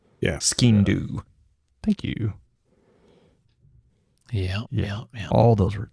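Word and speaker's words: Sgian-dubh: Yeah, it was almost like a Stygian dube or whatever it's pronounced. Yeah. Skindu.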